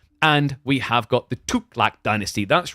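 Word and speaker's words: Tughlaq: And we have got the Tuklak Dynasty.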